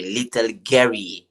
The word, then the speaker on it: Guerrier: well, with your accent, it will sound like that, little Guerrier, yes, but in French they say little Guerrier, you know. Little Gary.